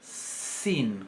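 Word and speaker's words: שׂ: Y con el puntito a la izquierda se va a pronunciar sin, como nuestra S, igual que la samej.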